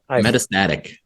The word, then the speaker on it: metastatic: with this word metast metastatic thank you I was putting that on the wrong syllable metast brain cancer and